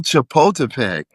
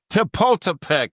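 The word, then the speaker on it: Chapultepec: Well, uh before we leave Denver, tell me about uh I always get the name wrong when I was living there. Uh uh El Chaput El Chapultipek. Chapultipek.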